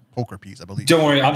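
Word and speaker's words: pulchripes: mispronounce it poker piece i always want to say poke ripes but i've been correcting it recently it's poker piece i believe don't worry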